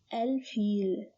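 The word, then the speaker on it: الفيل: When we add L, it becomes al-feel.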